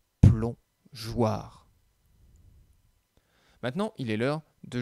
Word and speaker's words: plongeoir: a rajouté un e imaginons sur le mot plongeoir que nous enlevions la lettre e dans ce cas là on sait qu'après un os le g se prononcent go et donc on lirait un plomb gouard et donc c'est pour cela qu'on rajoute le e pour que l'on puisse lire un plomb jouarre maintenant il est l'heure